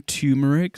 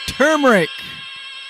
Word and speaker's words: turmeric: 50 some people saying tumeric some people saying turmeric wow we looked it up what was that sorry we looked it up and turmeric is the proper pronunciation yeah i was right